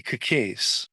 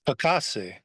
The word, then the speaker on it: Kekase: Joe Waverly Kekase, properly pronounced Kakase, is alleged to be the Colombo underboss, and I could see him being chosen for an administrative position.